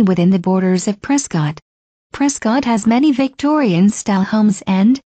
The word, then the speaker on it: Prescott: Locals usually pronounce the name Prescott as opposed to Prescott.